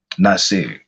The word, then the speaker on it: Naasire: I know it's spelled like Naasire, but I listened to his family speak, because they held all these vigils. Like even when he was like reported missing, his family was like out, like having press conferences and things like that, trying to get the word out. So they pronounce his name Naasire.